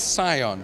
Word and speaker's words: Cion: quick little overview and also how do you pronounce the name the name is Sion so the name is an Old English word